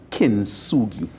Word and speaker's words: Kintsugi: And give me the pronunciation one more time. Kintsugi.